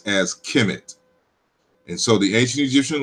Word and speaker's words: Kemet: We colloquially pronounce as Kemet.